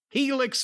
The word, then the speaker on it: Helix: And Helix, of course, is pronounced Helix and spelled H E L I. Just think about Felix, but with an H.